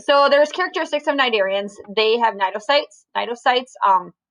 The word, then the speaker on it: Cnidarian: talking about nigerians today cnidarians the sea is silent nidarian it's not canarian or whatever you would say so it's nidarian cydarians are like jellyfish